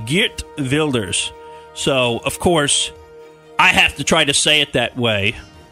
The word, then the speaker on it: Geert Wilders: that is the correct right. Dutch mm-hmm. pronunciation would be Geert Wilders.